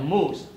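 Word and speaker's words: MOOC: interview pre-job Learning Systems We call we pronounce as mov massive open online courses universities started to put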